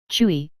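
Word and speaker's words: 吹: Chui, pronounced like qui with a forceful exhale, which is associated with the kidneys.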